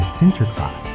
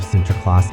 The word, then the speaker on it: Sinterklaas: The figure of centerclass eventually made its way to America with Dutch immigrants. In the new world, the name softened and morphed from the Dutch pronunciation into the universally recognized Santa Claus.